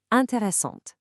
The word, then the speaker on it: intéressante: like Lisa, it literally forces you to pronounce the consonant right before it. The e makes the t sound pop. Intéressante.